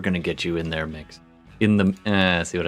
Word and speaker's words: Mx: your strength what handle is mix uh as in the uh gender neutral honorific um how do you